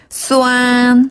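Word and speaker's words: 酸: 그리고 시다는 수안 이라고 해요. 수안 아주 잘하셨는데 수안은 고음으로 그냥 길고 쭉 뽑는 음으로 다시 한번 수안.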